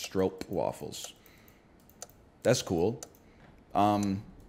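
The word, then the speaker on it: stroopwafel: on the map brother it's actually pronounced stroke waffles that's cool um it's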